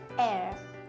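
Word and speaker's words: heir: 次に Air、 Air、これも H-E-I-R なんで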